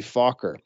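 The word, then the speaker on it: Fokker: was actually Dutch and his name was Anthony faulker f-o-k-k-e-r be very careful how you pronounce that folks he invented an interrupter gear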